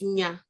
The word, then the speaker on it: nya: So the word for word is nya, N-Y-A. That's nya. But nya, also, if you pronounce it nya, it means knowledge.